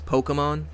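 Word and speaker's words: Pokémon: Um, how do you pronounce it then? Is it more of like a e pokemon? Pokemon. Pokemon. It's Pokemon. Okay. It's the E.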